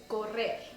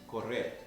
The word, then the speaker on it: correr: But to run is correr. Correr. Correr. Now remember when I said about the R's? This has 2 R's in it, so it is correr.